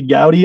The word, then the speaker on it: Goudie: the outlook industries podcast today we have gowdy on here how you doing hey man i'm appreciating the proper pronunciation of the surname i had to make